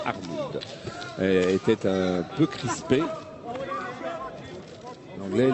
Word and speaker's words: Arnould: un peu Arnoud, hein, la prononciation c'est bien Arnoud, était un peu crispé.